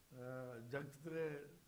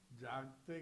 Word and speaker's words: جاگتے: ادائیگی بھی بہتر ہو کچھ مقالہ نگاران نے جگتے کا لفظ استعمال کیا جاگتے کے بجائے جگتے یہ الفاظ استعمال نہیں ہوتے کچھ مقالہ نگاران نے